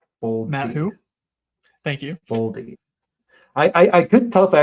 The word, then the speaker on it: Boldy: Let me just I'll take Matt Boldly. Matt, who? Thank you. Boldy.